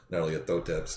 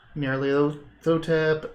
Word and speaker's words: Nyarlathotep: I think we talked more than once about how to pronounce Nyarlathotep's name. Yeah. Nyarlathotep, and there's a couple others.